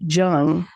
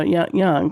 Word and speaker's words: Jung: lie and course Carl you pronounce it Jung no no young because or yes J G so he's from Switzerland which is one of my